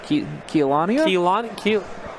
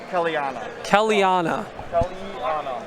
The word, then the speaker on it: Kelania: Oh, Keelania? Kelania? How do you say that? Kellyanna.